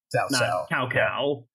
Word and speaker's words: Cao Cao: like read uh but it's pronounced with kind of that TS sound so it's South sa cow cow yeah so there's not